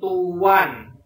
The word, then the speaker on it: toean: ut aku guru dan Tuan ejaan lama itu adalah toean dibacanya tuan dan katamu itu tepat